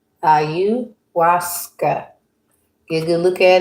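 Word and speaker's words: ayahuasca: This is pronounced Auasa. Auasa.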